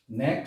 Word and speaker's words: knack: নেক শব্দের অর্থ হচ্ছে দক্ষতা। এখানেও কিন্তু এই যেখানে প্রত্যেকটা অক্ষরই লেটার কে আছে, লেটার, এই লেটার কে অক্ষরটি কিন্তু লেখা হয়েছে, বাট প্রনাউন্সিয়েশনের সময় সেটি বলা হয়নি, উচ্চারণের সময়।